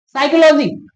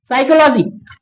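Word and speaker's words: psychology: देखिए साइकोलॉजी ये स्टार्ट तो पी से हुआ लेकिन इसका जो उच्चारण निकल रहा है स से। ठीक है ना? साइकोलॉजी बात समझ में आई?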